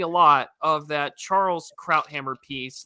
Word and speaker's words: Krauthammer: I mean, I is it Krauthammer or Krauthammer? Krauthammer. Yeah. And that's how I've always heard it pronounced on Fox News when he was still alive.